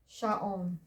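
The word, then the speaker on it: שעון: Ayin is silent, so moves to the vowel. Vav with the dot is the O vowel. Final N, sha'on, which is a watch or clock.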